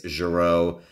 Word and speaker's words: Gero: my favorite figures doctors I don't know but to me it's gero it's pronounced how it is in the show and that's how I'm gonna stick to it Dr gero brown pants